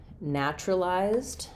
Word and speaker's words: naturalized: So um so even though we have naturalized looks like naturalized looks like four syllables we tend to do this and reduce it a little bit to three syllables.